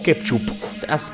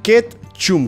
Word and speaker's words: Ketchum: ¿Es Ketchum o Ketchup? ¿Asketchum? Ok, al parecer es Asketchum. Ketchum con M.